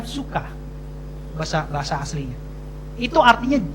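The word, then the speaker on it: ψυχή: itu ya sor suka suka ada p-nya suka tulisannya PS u c e Tapi bacanya suka bahasa bahasa aslinya itu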